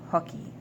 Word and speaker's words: hockey: It's le hockey.